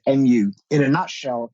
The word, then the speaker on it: mu: be, it's based on the Buddhist concept of mu or mu, depending on how you want to pronounce it, mu.